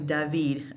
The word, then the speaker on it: David: by jacques-louis dahveed and it's not David it's actually daveed accent on a different salon both syllable and